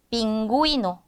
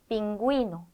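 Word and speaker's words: pingüino: 두 개로 쪼개라 거예요 원래대로 9의 구이 이렇게 읽어 주라는 겁니다 9의 구이 이렇게요 그래서 빙구 이노 빙구 이노 링구 이스타 링구스 이렇게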